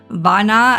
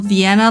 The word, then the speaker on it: Viana: This is also where we found out it's pronounced Viana and not Vienna like I've been saying.